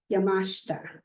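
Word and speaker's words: Yamashita: So, he prefers that our last name be pronounced Yamashta, like no other.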